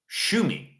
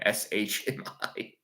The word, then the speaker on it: Shmi: Shumi. Their mother's name is Shumi. And give me some credit for being able to pronounce that name. Shmi. Shumi.